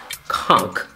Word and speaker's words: conch: But the first thing that was different for me, but it is kind of like a delicacy in Key West, is conch. So it's actually pronounced conch, not conch, but conch.